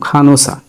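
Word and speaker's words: 간호사: কিন্তু হিউত যদি শুরুতে না থাকে তাহলে সেটির উচ্চারণ হবে অর মতো, তার মানে খানো উচ্চারণ হবে ইউং এর মতো বা অর মতো, খানো।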